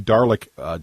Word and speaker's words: Dalek: I don't even I don't think it rhymes with garlic, is what I'm saying.